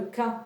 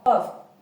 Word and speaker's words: ق: Faites attention, c'est pas le K comme en français, non, c'est Qa, Qa, Qa.